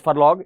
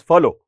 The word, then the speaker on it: furlough: Okay, not pronounced as furlong, it is furlough, right?